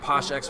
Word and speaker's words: PoshXX: We got PoshXX versus McCray. The X is silent. X is always silent.